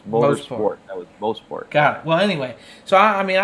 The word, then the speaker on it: Mosport: I know I always say it wrong. It's Mosport. Oh, I got it right, and I doubted myself.